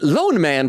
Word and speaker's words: Loneman: Oak says, "Lone, Lone Man, pronounced like men."